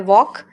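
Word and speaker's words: walk: इसे बोलते हैं वॉक एल साइलेंट है।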